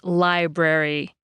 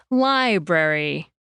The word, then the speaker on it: library: In English, we say library, stretching out the I sound and saying it more clearly than the brary part. Library, library.